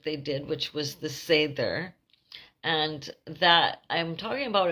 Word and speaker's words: seiðr: Now, the vølva practiced 3 different types of magic, and they are the Seiðr, S-E-I-D, with the special mark on top, R, which is pronounced Seiðr, as Seiðr, and Spa is another one, and Guldr is the 3rd type of magic.